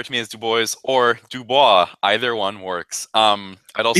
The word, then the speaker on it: Dubois: Yeah, so Dubois it's a joke, referencing to like when I started using the name online of Dubois. People like my friends would mispronounce it purposely to joke, mispronouncing it as Dooboys.